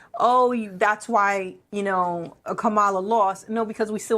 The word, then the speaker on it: Kamala: However, for the people who were like, oh, that's why, Kamala lost. No, because we still only make Kamala. That's why. It's Kamala.